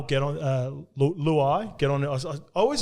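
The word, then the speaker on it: Luai: lao get on uh luau get on i always i was calling him lao 2 before and then i seen him talking about how he pronounced his name it's and it's like louis it's like klug starts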